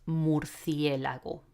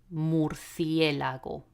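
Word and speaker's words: murciélago: probably have worked out the pronunciation of this word in Spanish is more fear level more fear Lago again focus on the vowels okay morphia Lago it's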